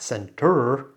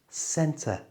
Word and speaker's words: centre: We even use the schwa if it has a vowel after it that we don't pronounce, like this word, centre. Can you hear? It's not centre, it's just centre with a schwa.